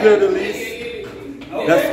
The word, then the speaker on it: Fleur de Lys: We're at the Fleur de Lis. That's spelled F L E U R.